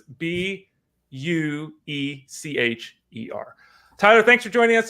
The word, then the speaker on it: Buecher: So it's Buecher.